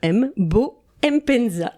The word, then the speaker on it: Mbo Mpenza: J'ai donc devant moi le grand Mbo, on ne prononce pas le M, Bo Mpenza.